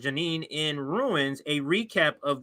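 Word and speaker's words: Jenin: So again, Richard Medhurst thread, Israel forced to retreat with I think it's pronounced Janine in ruins, a recap of the last 48 hours.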